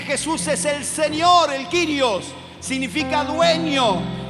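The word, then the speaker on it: κύριος: Si ves el original del Nuevo Testamento se pronuncia en griego kirios, que significa Señor Dios, Señor todopoderoso.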